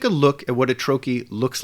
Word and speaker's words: trochee: you can see that the first syllable of the word is stressed while the second syllable is unstressed it's pronounced Troi not Troi now this